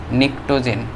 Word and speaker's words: pnictogen: তো নিকটোজেন মৌল এর ইংরেজি বানানটা হচ্ছে PNICTOGEN, নিকটোজেন।